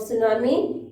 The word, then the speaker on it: tsunami: इसको हमने यहाँ पे लिखने में, when we will write the spelling of tsunami, we will write T, but when we will pronounce it, T is silent in this word.